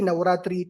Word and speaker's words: Navaratri: n to everyone and yes if you can pronounce with me as well happy navaratri to everyone oh my God I cannot pronounce